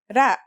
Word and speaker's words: ر: Its closest English counterpart is the letter R, but it's a different sound that must be learned. Ra.